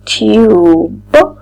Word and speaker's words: tube: U tube tube. And as we know we don't read magic e. Magic e is silent but we have to